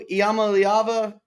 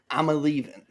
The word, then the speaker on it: Iamaleava: Well, tonight, we're going to be talking some football because Nico Iamaleava, brah. What? Stop it. Say it right. Nico, I'm a leaving. I got it. Yes. Nico, I'm a leaver.